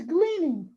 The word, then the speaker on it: gleaning: food cleaning what is gleaning gleaning is when you gather things that other people have left behind gleam it rhymes with leaning leaning yes leaning doesn't